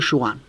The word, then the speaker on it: Jouin: Podemos aclarar que se escribe Jouin, ¿no? O sea, sí. Lo aclaramos Jouan, por si alguno lo quiere googlear.